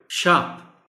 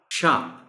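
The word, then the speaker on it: sharp: शार्प, शार्प. आर इसमें almost silent है.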